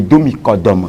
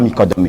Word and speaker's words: Domi Kodome: prononce le nom et Domi Kodome. Ce n'est pas Mikodome. C'est un peu francophone quand on dit Mikodome avec l'accent.